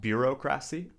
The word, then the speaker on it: bureaucracy: Not bureaucracy, but bureaucracy. The stress is on the second syllable.